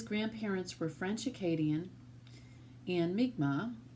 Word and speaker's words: Mi'kmaq: were French Acadian and meek ma or the Anglo pronunciation is Mi'kmaq his family remained quiet